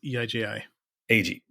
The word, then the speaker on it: Eiji: Eiji.